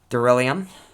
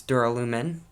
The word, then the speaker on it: Duralumin: I pronounced it Duralium. But anyways, that's my bad. It's Duralumin, but it's Duralium to me.